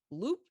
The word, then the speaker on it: Loupe: Loop is spelled, it's tricky, guys, LOUPE.